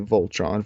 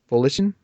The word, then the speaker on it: Volition: you say it I don't want to say Voltron Vol volton the guys who did Saints Row volition volition okay I didn't want to say Voltron because